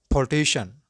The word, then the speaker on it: politician: Electrician, electrician, beautician, beautician, technician, technician, musician, musician, congratulation, congratulation, physician, physician, politician, politician, mathematician, mathematician.